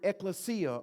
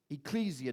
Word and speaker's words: ekklesia: The word church comes from the Greek word ekklesia or ecclesia, depending on how you want to pronounce it.